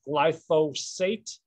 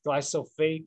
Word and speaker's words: glyphosate: which is glyphosate that i mentioned it is pronounced glyphosate and not glycophage or glyphospherus or anything like that and that is the